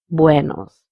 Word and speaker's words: buenos: The first word has to be pronounced very nicely and with a round mouth, buenos, instead of saying buenos. So the whole word is pronounced as buenos días.